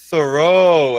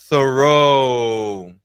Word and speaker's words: thorough: I also read that you need to be thorough. Essa é uma das palavras mais difíceis de pronunciar. É thorough. Thorough. Lembra que o TH começa com a língua entre os dentes, né?